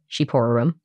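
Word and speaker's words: shqiperorum: I would have never guessed that that was pronounced sheep to start yeah I had to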